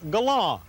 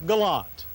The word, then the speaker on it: Galant: Galant sedan in 1985, they wanted automotive journalist types to pronounce the car's name Galant. We did, even though the public laughed when we did it. Well, now there's a new Galant, and this time Mitsubishi wants us to pronounce the name the way it reads, Galant.